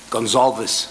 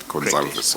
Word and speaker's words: Goncalves: But the way you pronounce the surname is you don't pronounce the V. Goncalves. No, you pronounce it Goncalves.